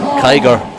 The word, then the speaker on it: Kiger: But his fun fact was his last name is pronounced like tiger with a K. Tiger. Kiger.